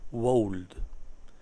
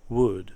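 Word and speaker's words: would: por Dios por Dios no digáis wold se pronuncia good casi como madera vale seguimos must mast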